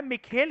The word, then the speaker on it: Mikhail: USSR का एक president बनता है, इसका नाम होता है मिखेल गर्बाचोव। कैसी प्रोनाउंसिएशन होती है इसकी?